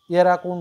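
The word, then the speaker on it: Erdkunde: এন ডি E sorry ই আর ডি এরাকুন্ড বলা হয় উচ্চারণে ঠিক আছে তো এই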